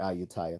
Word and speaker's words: Ayutthaya: Oh, I did say it right, Ayutthaya.